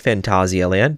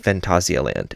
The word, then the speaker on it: Phantasialand: So, as I mentioned in the last episode, Phantasialand, that is how it is said in Germany. That's how the park says it. Now, it does mean Fantasyland, but it's pronounced Phantasialand as the park.